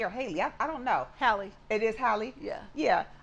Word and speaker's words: Halle: Do you pronounce her name Halle or Haley? I don't know. Halle.